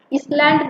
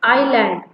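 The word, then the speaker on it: island: आइलैंड की spelling में आपको दिखेगा तो IS लगा हुआ है, लेकिन एस जो है वो साइलेंट होता है, उसकी आवाज आपको नहीं निकालनी है जब आप पढ़ोगे इसको। इसलैंड नहीं पढ़ते, इट्स आइलैंड। ओके, एस की आवाज नहीं निकालते।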